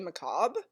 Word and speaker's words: macabre: and it's called faintly macabre story I'm going to show you really quick how you spell that word macabre sometimes people will just say McCobb it's the same word and and it means